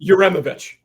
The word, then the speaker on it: Uremovich: We brought in Coach U from I can't pronounce his last name yet, but he's a Butler guy. Isn't it Uremovich?